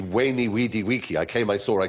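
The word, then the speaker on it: veni, vidi, vici: i was taught latin we were taught to pronounce the v as a w so it would be wayney weedy wiki i came i saw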